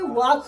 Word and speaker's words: walk: वाल्क माने, सुनिए, इसे बच्चे वाल्क पढ़ते, क्या पढ़ते हैं? लेकिन सही सही से वाक पढ़ा जाता है। क्या पढ़ा जाता है? वाक। अभी हाँ, इसमें एल साइलेंट होता है।